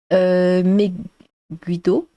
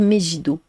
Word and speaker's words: Megiddo: Megiddo Geek Room, j'ai le même problème, mon pseudo se prononce Meguido, dans un méchant de Sentai, et souvent on me dit Megido. D'accord, bah non, le G en général, on dit gueux, quoi.